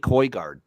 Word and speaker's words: Højgaard: And I like Nick Højgaard. Nick Højgaard. Højgaard? Yeah, that's how you pronounce it.